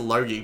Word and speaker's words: Logy: cuz I'm Australian and the way I pronounce Logie or I actually pronounce it low-key but when you pronounce